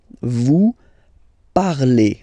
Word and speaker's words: vous parlez: Vous parlez. Okay, remember a Z, when you combine them together, you get the sound E.